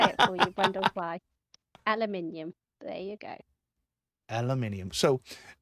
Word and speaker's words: aluminium: Aluminum or aluminium? Aluminium. Is that It's got an I. it's got an I in it?